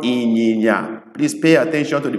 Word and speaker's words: inyinya: It's called inyinya. Please pay attention to the pronunciations, because if you don't get it right, it means something else.